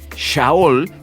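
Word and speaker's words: שאול: el nombre Saúl viene de la palabra hebrea pronunciada yahool que significa deseado o implorado mire Qué interesante shaol que significa deseado y es que de verdad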